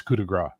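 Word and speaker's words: coup de grâce: French speaker on the panel in English it's kudagra it's not it's Cass g a c English English has transformed it into kudagra versus French which is Cass as far as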